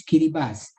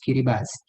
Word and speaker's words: Kiribati: Kiribati, tapi sebut sebenar ada correct pronunciation is Kiribati. The spelling is Kiribati, the name of the country, tapi the correct pronunciation is Kiribati.